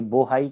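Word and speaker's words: Bohai: की खाड़ी बोलते हैं, तो बोहाई या पोहाई कुछ भी आप बोल सकते हैं, इसका प्रोनाउंसिएशन चाइनीज लैंग्वेज में अलग अलग है। तो ये बोहाई की खाड़ी या पोहाई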